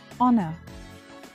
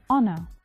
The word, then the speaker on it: honor: say them air our honor see I do not pronounce the h sound I do not say